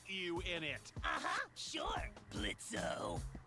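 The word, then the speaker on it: Blitzø: in it uhhuh sure blitzo the O is silent now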